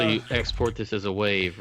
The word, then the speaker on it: WAV: It's wave. Wave has an E at the end of it? The E is silent.